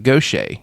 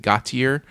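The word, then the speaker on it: Gautier: Now in Louisiana that is actually very common last name and it's pronounced gocha but this person is not from Louisiana.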